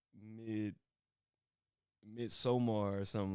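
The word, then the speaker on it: Midsommar: She like no it's not mid. It's like mid midsomar or something like that.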